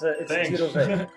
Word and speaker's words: Jiro-Ve: No, you did a quite a job. It's Jiro-Ve. Also, a special word of welcome. With a Dutch accent, that's correct.